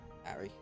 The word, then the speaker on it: Ari: Pronounced Harry without the H. Ari. Ari.